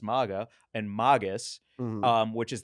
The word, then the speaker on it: Maga: M- a g- a pronounce maga.